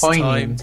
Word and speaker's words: poignant: For several times, Arash has not been able to pronounce it correctly. And yeah, it's poignant.